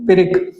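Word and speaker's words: pyrrhic: पिरिक का pronunciation पिरिक।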